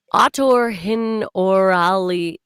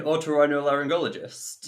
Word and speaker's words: otorhinolaryngologist: Otorhinorali. Give me a second. Otorhin. Okay, let's stop it there, because this is painful. Producer Will, do you know how to pronounce it? Do you mean otorhinolaryngologist?